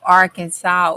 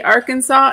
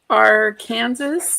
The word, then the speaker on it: Arkansas: So you have to say Arkansas and not Ar Kansas, I guess. Oh, it's Arkansas. Arkansas. What's the fine? What's the fee? What's the penalty? Um, it is. Let's see. There is no Kansas in Arkansas, y'all.